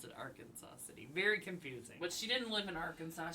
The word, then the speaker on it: Arkansas City: town of Arkansas City AKA our Kansas City if you're from Kansas but we're outside of Kansas so we would pronounce it Arkansas City very confusing but she